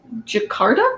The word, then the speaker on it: Jakarta: Actually, I don't know how to say it, Jakarta?